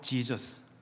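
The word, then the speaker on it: Jesús: 멕시코에서 온 친구인데 스페니로 제발 발음이 해 발음이 납니다. 그래서 그의 이름은 해수스였습니다. 근데 영어로 지저스.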